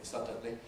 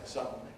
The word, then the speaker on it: suddenly: therefore or suddenly suddenly nasal release in that d we don't say suddenly we say suddenly suddenly suddenly suddenly and